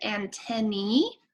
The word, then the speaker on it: antennae: around them so it we pronounce it ant any if there's more than one like two is more than one so it's two ant any if it's just one it's an antenna so it's one antenna